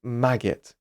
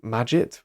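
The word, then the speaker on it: Magit: for example you have a package called maggot or maget depending on the way you want to pronounce it but this is an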